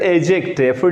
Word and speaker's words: adjective: An adjective we will pronounce it adjective. D is silent.